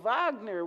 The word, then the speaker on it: Wagner: biography of the composer Wagner. I handed the son a couple of books that seemed for about his age, and he refused them. No, Wagner with a V.